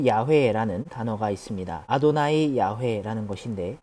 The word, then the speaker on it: 야훼: 그렇기 때문에 이 단어는 야훼라고 발음을 해야 되는데 그 이유는 성경의 외적인 자료들에서도 찾을 수가 있지요.